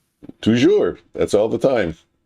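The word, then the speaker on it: toujours: In French, it's tujour. Yeah. Okay. But in Canadian French, it's tou.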